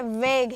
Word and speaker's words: vogue: वेग है, VAGUE, वेग। यहीं पे एक और वर्ड लिख रही हूँ, VOGUE। दोनों का स्पेलिंग काफी मिलता जुलता है, परेशान ना हो। ये वोग है, वो वेग है।